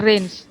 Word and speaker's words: range: Samarang no I am bacanya bukan range tapi Reigns jadi domain kodomain dan